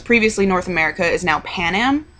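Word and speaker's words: Panem: is now Pan Am Pan Am panum I think is how they want it pronounced in the movie It's Pan Am and I was like there's no a there that's an airline whatever and um but it's actually it's PanAm would be the pronunciation because it's a Latin word which means bread I know and um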